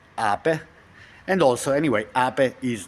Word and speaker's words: Ape: in Italian the same word spelled ape it's pronounced AE and also anyway AE is the B and